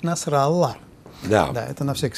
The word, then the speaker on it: Насралла: Ну, а почему-то Насралу они произносят как Насралах. А, для того, чтобы звали. Да. Господа, по-настоящему он звучит Насралла.